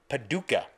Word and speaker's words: Paducah: I'm going to pronounce it right. Paducah, Kentucky.